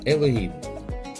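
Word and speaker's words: אלוהים: ещё одно загадочное слово по еврейский читается как элохим в русском переводе переводится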